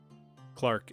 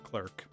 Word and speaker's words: clerk: relate to the clark clark english pronunciation clerk american english pronunciation from oxford studied philosophy